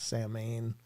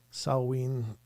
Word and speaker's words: Samhain: Samhain, Samhain. There's several different pronunciations.